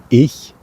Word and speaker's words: ich: I-C-H, pronounced ich, which is a sound that might be hard to pronounce because you don't know it, you don't have it in English. Ich.